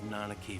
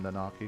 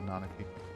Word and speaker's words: Nanaki: so I was like I always called him nari it seems like nanaki I will try to